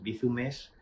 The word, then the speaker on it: Bizum: dice el plural de Bizum, si es Bizums, Bizumes, y ha dado para bastante. Pero, ¿cómo se pronuncia Bizum?